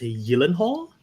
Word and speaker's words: Gyllenhaal: round with one point someone told me it's pronounced Yen Hall but I don't know how true that is is that sounds